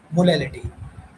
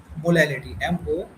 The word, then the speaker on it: molality: मोलैरिटी, अब हम दूसरी कंसंट्रेशन टर्म की बात करते हैं जिसका नाम है मोलैलिटी। ये स्पेलिंग मिस्टेक हो रही है, जिसको हम लिख सकते हैं मोलैलिटी, MOLALITY, मोलैलिटी।